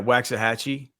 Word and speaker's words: Waxahachie: Is that how it's pronounced? Is it Wax? Yeah, Waxahachie.